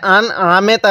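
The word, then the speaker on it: أنعمت: পড়বো সিরাতাল্লাজিনা আন আমতা অনেকেই আমরা এই স্পষ্ট করে পড়ার জায়গায় আন আমেতা পড়ি ঠিক আছে যদি এরকম ভাবে পড়ি তাহলেও কিন্তু পড়াটা সহি শুদ্ধ হবে না কিভাবে পড়তে হবে আন আমতা নুনটা স্পষ্ট করে পড়তে হবে আন আমতা তাহলে সিরাতাল্লাজিনা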